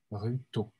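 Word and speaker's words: Rutault: Ça s'écrit comment ? A-R-U-T-A-U-L-T. L-T-A-U-L-T à la fin. Ruto. Claude Ruto. C'est très particulier, Ruto.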